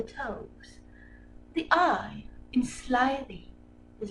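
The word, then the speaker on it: toves: how to pronounce slithy toes. The I in slithy is long, as in rhyme, and toes is pronounced so as to rhyme with grows.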